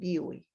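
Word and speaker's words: Dewey: la filosofía de john digweed que se escribe the way pero se lee y wii solo avanzando un poco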